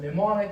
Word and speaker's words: mnemonic: A mnemonic is just a memory aid, or a memory technique, a method for increasing your memory. Mnemonic. So it's M and N, but the N is silent.